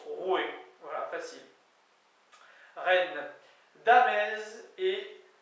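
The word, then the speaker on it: roue: dit rou R et ça se prononce roué voil facile re Dam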